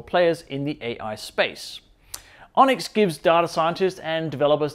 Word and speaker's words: ONNX: mmm now this week the onx pronounced onyx that is the open